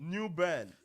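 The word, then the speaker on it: New Bern: You said the same thing like new burn. It's like like you're saying earn like you r but it's new burn. Yeah. Or like you're burning something.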